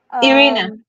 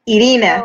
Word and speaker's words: Irina: it sounds weird because Irina kind of sounds different, a bit different in Russian. So I'm kind of trying to match you at your energy. I was going to say it like with the Spanish sound, Irina, Oh, actually, it but sounds more Russian like this.